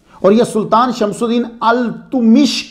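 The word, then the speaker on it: Iltutmish: और यह सुल्तान शमसुद्दीन अल-तुमिश के गुलाम थे। यह प्रोनाउंसिएशन अल-तुमिश है।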